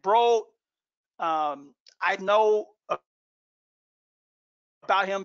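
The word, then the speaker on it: Broad: fit uh for you eli bro he pronounces it bro um i know about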